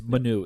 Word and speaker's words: Manu: It's Manu.